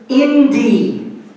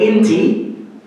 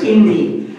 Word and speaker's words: Inti: So that bird is called Indi. Indi. And that is actually the way you pronounce in Quechua the term for the sun, which we mispronounce in Spanish and English by calling it Inti, but it's Indi.